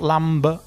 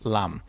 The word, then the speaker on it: lamb: Remember, don't pronounce the B. It's not lamb, it's lamb.